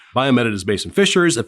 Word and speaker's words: BioMEDit: And our fourth one is really interesting, and I may mispronounce this. Is it Biomedit? Biomedit.